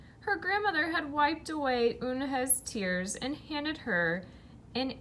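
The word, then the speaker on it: Unhei: It's spelled U-N-H-E-I. It's pronounced Eunhye. "Oh, it's you, hey," the boy said, "like you, hey."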